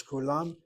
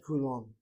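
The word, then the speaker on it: כֻּלָּם: The accent is on the last syllable. And therefore a closed syllable with a kamat is a medial kamat not a short kamat. That's how I know to read as kulam, not kulom.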